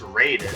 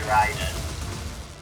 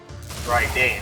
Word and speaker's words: Raiden: Which again puts it a little bit in parallel to the Shinto versions, Raiden, of course, or more commonly pronounced Raiden, but in Japanese it should be Raiden. Raiden, actually.